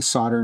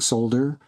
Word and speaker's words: solder: that's why I say solder now, and and I can't say solder because I started out saying solder. That's how it's spelled. S O L D E R. Why don't you pronounce the L?